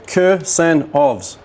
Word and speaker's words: Kursanovs: Kursanovs. 3 syllables, yeah? Kursanovs.